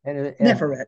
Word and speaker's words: Neferet: Neferet, yes.